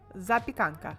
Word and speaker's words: Zapekanka: Za pya kan ka. Zapekanka.